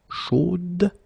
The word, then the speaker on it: chaude: Chaude. So here you pronounce the final d, whereas in the masculine form you don't pronounce it.